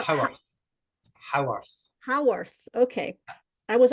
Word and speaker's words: Haworth: that Elizabeth uh, observed through not only her own interactions, visiting the Bronte home, and how do you pronounce it? Is it Hayworth or Howarth. how Howarth.